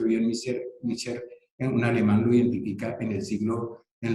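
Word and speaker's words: Miescher: las bases que caracterizan ese ácido que se pronuncia bien, Mischer, un alemán lo identifica en la segunda mitad del siglo XIX.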